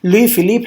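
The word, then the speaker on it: Louis Philippe: तो एक constitutional monarchy establish की गई और लुई फिलिप, you will have to remember this pronunciation, लुई फिलिप had been established at its head.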